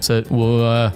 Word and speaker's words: said: not said and say said is pronounced like bread but not bead and